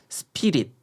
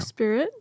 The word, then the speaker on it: spirit: 그러면은 스피릿 보통 이렇게 발음하는데 원어민들의 발음은 달랐어요. 어떻게 해야 될까요? Spirit. 네. 네. 그냥 한국 사람들 이게 스피릿 이렇게 삼음절 네. 3번 박자를 칠 수 있는 거라면 원어민들은 어떻게 소리를 내야 되나요? 일단은 음절이 2개고요.